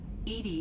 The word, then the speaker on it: EDI: are you named Ed Ed is the phonetic pronunciation of Eed that is an acronym for enhanced defense intelligence what do you do